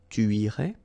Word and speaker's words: tu irais: Tu irais. Same thing here, final S not pronounced. Tu irais.